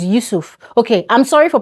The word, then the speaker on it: Yusuf: There's someone in my comment section that is always correcting me that, Glory, it's not YUSUF, it is YUSUF.